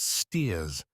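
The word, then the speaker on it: Staithes: saunderson a shopkeeper at stth always pronounced steers a small fishing town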